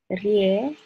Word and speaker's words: ресторан: Ре-сто-ран. Ресторан. Stress is here, you can see.